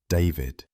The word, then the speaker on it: D4vd: By the end of 2022, David Burke, now performing under the name D4D, pronounced David, had signed with Dark Room and Interscope Records.